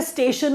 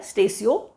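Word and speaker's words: Statio: Latin word है स्टेशियो, दैट इज़ हाउ we pronounce it. कुछ लोग तो स्टेशो पढ़ लेते हैं, जो पढ़ना पढ़िए, कोई प्रॉब्लम नहीं है, प्रोनाउंसिएशन कोई चेक नहीं कर रहा आपका।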